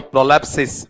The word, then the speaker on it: prolepsis: ठीक है, चलो आपने उच्चारण बोला है तो मैं वही ले लेता हूं आपका। ठीक है, यहां पर बोलो प्रोलैप्सिस, बोल के बताओ, देखिए क्या है आपका प्रोलैप्सिस।